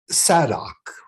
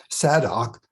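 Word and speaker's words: Zadok: priest and the remaining high priest was named saddock and that's spelled z-a-d-o-k he was from the tribe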